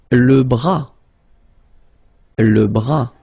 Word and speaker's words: bras: Le bras, same thing here, final S not pronounced, le bras.